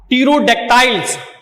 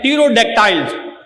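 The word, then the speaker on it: pterodactyls: एक है हमारे पास जी टीरोडेक्टाइल्स, पी साइलेंट है, टीरोडेक्टाइल्स। टीरोडेक्टाइल्स कहते हैं जी एक्सटिंक्ट फ्लाइंग रिप्टाइल्स।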